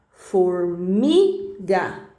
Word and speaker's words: formiga: aí é uma oxítona se for no meio da palavra né a penúltima sílaba como a palavra formiga aí é uma paroxítona E agora se for